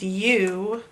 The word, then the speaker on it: you: Ooh, this is the part you got to learn by heart. Strange ooh sound.